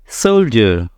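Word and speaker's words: soldier: यहां पे क्या है सोल्जर सो यहां पे क्या है डी लेकिन यहां पे साउंड क्या है जोक आ रहा है सोल्जर सो एक जगह पे देखिए डी का साउंड है डो एक जगह पे आ रहा है जो तो इसमें डिफरेंस क्यों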